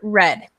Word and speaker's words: read: read read read now the second column and the third column are pronounced with the color red okay so it's quite